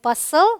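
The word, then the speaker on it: bustle: रूल number 2 कहता है अगर टी के बाद एल आए तो टी साइलेंट होता है। तो देखिए टी के बाद एल, सो टी एल ई जब होगा तो टी साइलेंट होगा। ये है अपोसल, एपोसल रादर, ये है ब्रिसल, ये है बसल, देखिए STLE, ये है कासल।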